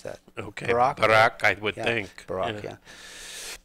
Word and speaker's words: Barak: Former ex-prime minister Barak, is B-A-R-A-K. I forget how you pronounce that. Okay, Barak, I would think.